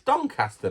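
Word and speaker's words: Doncaster: the dcast don don I'm pronouncing things so weirdly donter it's Don cter mate uh because I'm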